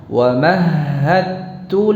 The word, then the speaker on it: ومهدت: Di sini ada dal sukun yang bertemu dengan ta, dibaca dengan idgham mutajanisain, dan idghamnya jenis idghamnya kamil, sempurna. Jadi langsung ke ta.